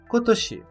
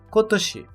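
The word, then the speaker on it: 今年: ano que estamos estudando, sendo a sua leitura Kotoshi, Kotoshi.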